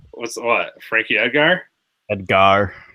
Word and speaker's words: Edgar: Edgar. You emphasize the Ed and the Gar.